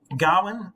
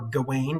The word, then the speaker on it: Gawain: lancelot and gwenevere um gowan or gawain depending on how you pronounce it gowan is a traditional english pronunciation is uh one of